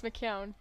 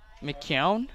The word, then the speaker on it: McKeown: at this point McEwen it's not McEwen it's McCown McCown yeah well I mean